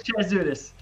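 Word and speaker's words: Chatzoudis: it's Elias Chad Chad there you go Elias chadis so uh but here's the original artwork you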